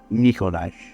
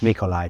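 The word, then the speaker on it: Nikolaj: Nikolai. Nikolai. Nicolash. Nikolai. Shouldn't it have been Nikolai? Like the J is pronounced like a Y.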